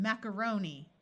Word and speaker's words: macaroni: be silent spaghetti and macaroni this a you will notice schwas so instead of macaron it's more like macaron with a long o Zone taxi and